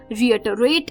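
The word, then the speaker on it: reiterate: तो चलिए, इसी के बाद जो 14th वर्ड है शाम का वो था रिएटरेट. रिएटरेट, जी हाँ दोस्तों, वर्ड ये थोड़ा सा अटपटा है प्रोनाउंसिएशन वाइज.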